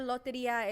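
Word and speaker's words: Lotería: If you're not familiar, loteria is basically bingo, just Mexican.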